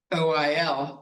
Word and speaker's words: Euler: OIL, but it does not start with O, it starts with E. Who would have guessed EUL is oil?